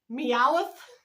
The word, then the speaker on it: Meowth: Meowth? That's so funny. Okay, I'm going to spell it M-E-O-W-T-H.